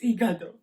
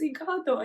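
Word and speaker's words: hígado: liver in spanish well it's igado because it has like that little tilde thing you know i always thought that it was pronounced egado and now today i have heard it pronounced for the first time what you're learning here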